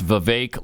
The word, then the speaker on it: Vivek: so I guess uh Vivek Vivek but I understand it's Vivek like cake that's what I'm continually